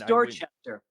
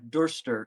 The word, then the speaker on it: Dorchester: But it's Dorchester. If you go to Dorchester, it's not Dorster.